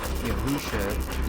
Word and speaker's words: Yahusha: you're going to see the truth of how his name is truly pronounced. For Yahusha is the real name.